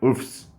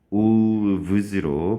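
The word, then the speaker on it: wolves: 울프에 S 붙여보세요. 울프스. 울프스. 발음이 쉽지 않거든요. 자, 그래서 3니까 울브스로 바꿔주시면 되겠습니다. 발음 때문에 그렇습니다.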